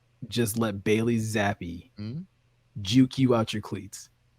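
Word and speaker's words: Zappe: I refuse to pronounce it Zappy. I'm going to say Zapp.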